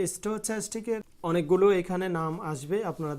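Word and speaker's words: stochastic: তো যেটা অনলি স্টোচ্যাস্টিক, যেটার আশেপাশে কোনো কিছু নেই, তো এখানে স্টোক্যাস্টিক আপনি যেটা বলতে পারেন, তবে চ্যাস্টিকটাই রিয়েল উচ্চারণ। এখানে দেখতে পাচ্ছেন স্টার চিহ্ন না থাকলে স্টার চিহ্ন দিয়ে দিবেন, তারপর স্টোচ্যাস্টিকের উপর আমরা ক্লিক করব।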